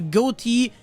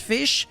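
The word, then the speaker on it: Ghoti: theme that i'll be covering will be the goatee which apparently is pronounced fish it makes no sense whatever so yeah it's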